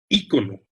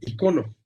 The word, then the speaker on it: ícono: Ícono, del griego eikon, imagen, es una palabra que encierra misterio hasta en su doble ortografía. Se puede pronunciar como esdrújula, ícono, y como grave, icono.